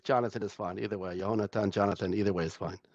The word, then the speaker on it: Yonatan: God helps now Rabbi someone's telling me that I miss I'm mispronouncing your name that it's yonatan not Jonathan you I I wrote on my screen Jonathan or you the truth is in Hebrew it's johannatan but either way is fine it's Jonathan is fine